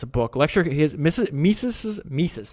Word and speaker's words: Mises: Lecture, Mises, that's how you pronounce it.